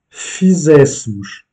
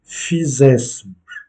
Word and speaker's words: fizéssemos: Et nous pourrions traduire comme fizéssemos, que nous ayons fait, ayons fait. Et l'accentuation est faite sur le premier E, fizéssemos.